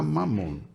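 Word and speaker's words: ממון: Mamon é uma palavra hebraica, está aqui transliterado, mas a pronúncia é essa mesmo, Mamon.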